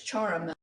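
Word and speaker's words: Ciaramella: Okay, so I'm being told that I didn't say it right. It's charamella, an Italian word that means like musical instrument.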